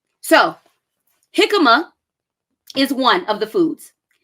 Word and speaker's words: jicama: So jicama is one of the foods. Jicama is spelled Hicama. Jicama.